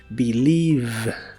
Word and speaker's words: believe: believe Qué significa creer la primera e se pronuncia como I y las demás es no se pronuncian Recuerda que la v o b chica como la conozcas en inglés es la biodental y vibrante believe believe y usaremos el verbo si